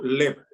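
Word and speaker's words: לב: El corazón se dice en hebreo lev. Dos letras, una sílaba, lamet bet.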